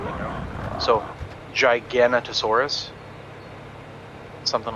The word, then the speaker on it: Giganotosaurus: Like think gigantic, because I think that's the root word, you know. So Giganotosaurus, something like that.